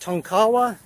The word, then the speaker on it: Tonkawa: I'm on Highway 177, just east of, I think it's pronounced Tonkawa, Oklahoma, on the way to Ponca City.